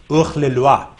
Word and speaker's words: Hors la Loi: Hors la Loi. It's a French film. In French, it's pronounced Ugh le Loi.